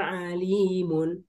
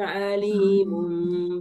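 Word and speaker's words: أليم: Itu kalau alim pakai hamzah, ya bermana apa? Yang pedih. Adab yang pedih. Sangat Apa? pedih. Orang bacanya apa? Walahum azabun alimun. Pakai ain. Azabun alimun bima kanu yaksibun.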